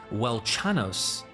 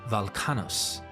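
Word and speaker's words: Velchanos: Here, the W in the name is pronounced as a V, and the ch is pronounced as k. So Welchanos should be Valkanos, and has thus been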